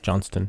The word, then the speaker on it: Johnston: hey I'm doing alright I've never pronounced the T correctly in your name it I think it's John stunts right Johnston yeah yeah I always default